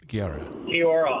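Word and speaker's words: Guiora: Amos Gora. Giora out.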